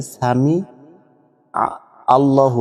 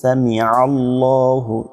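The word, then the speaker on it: سَمِعَ اللهُ: সামি আল্লাহু আমরা বলে থাকি। এখানে যদি সামি আল্লাহ বলেন তাহলে কিন্তু এখানে আইনের উচ্চারণটা হচ্ছে না। চাপ দিয়ে বলছেন সামিয়া আল্লাহু সামিয়া আল্লাহু সামি আল্লাহু লিমান হামিদা লিমান হামিদা।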